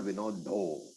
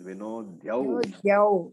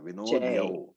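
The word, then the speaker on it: विनद्योच्चैः: Now Vinodya, that is a dha and a ya. It is not Vinodho. I heard some people saying Vinodho chai. It is Vinodhyau.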